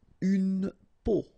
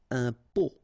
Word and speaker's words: peau: Une peau. And here you have the meaning in English. Une peau. Un pot.